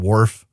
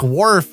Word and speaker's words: Worf: spell when we're putting worf into the uh podcrawl machine that spits out the hot lady voice can we just spell it like you spell a wharf so it sounds right instead of worf that's uh that's apparently